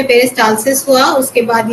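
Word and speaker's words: peristalsis: आप प्रोनाउंस गलत कर रहे हैं, सही बोल रहे हैं, बस प्रोनाउंस गलत कर रहे हैं। कौन से पेज में मिला आपको? मैम यही है, 8 नंबर पेज पे है। आप सही बोल रहे हैं, बस उसका प्रोनाउंस थोड़ा गलत कर रहे हैं। मैम यही लिखा हुआ है इसमें तो, पेरिस्टालिसिस। पेरिस्टालसिस। पेरिस्टालसिस, अच्छा।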